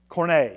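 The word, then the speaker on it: Koine: there are Okay, the Bible is written in Corno Greek. And there's a couple of interesting things about Cornogreek that are I'm not pronouncing that right. Am I Allan? Corna.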